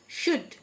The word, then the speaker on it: should: শুড, SHOULD, L silent, শুড, মানে করা উচিত।